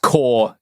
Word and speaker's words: corps: It's pronounced core, Garrison.